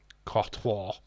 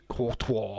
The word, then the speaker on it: Courtois: Courtois. Ingo Courtois. Hate his name. Courtois. You have to turn French just to try and pronounce his name, but it's a good claws it away.